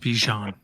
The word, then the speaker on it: Bijan: It's pronounced Bijan.